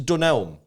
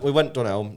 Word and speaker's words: Dunelm: Why do you say Dunelm like it's two different words? Dunelm. I said it right, didn't I? No. Dunelm. Dunelm. It's Dunelm. Dunelm. It's not Dunelm. I don't know. It's like a type of elm.